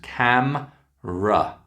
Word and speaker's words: camera: And note it's got 2 syllables. Camera.